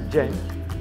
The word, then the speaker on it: dzień: This is dzień, and that means day.